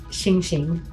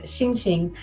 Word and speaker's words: Xing Xing: That's how you say it. Xing Xing. The X sound is a Xing. So Xing Xing.